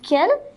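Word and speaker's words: quels: use this word q-u-e-l-s it is also pronounced ken it also means what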